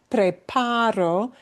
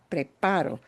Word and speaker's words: preparo: Because preparo means I'm doing it right now, but preparó, spelled the same way, but with a punch on a different syllable, is she did it.